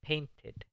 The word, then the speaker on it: painted: Aquí, porque paint en su forma básica termina en una T. Otra vez se pronuncia la E. I painted.